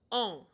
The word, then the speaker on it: en: En, E-N is pronounced en.